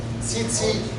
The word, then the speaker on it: tzitzit: Tzitzit.